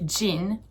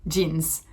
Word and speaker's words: jeans: So even in singular, we say the S if you do decide to pronounce it, but we kind of say both. So jean, jeans. And both are fine and both are correct.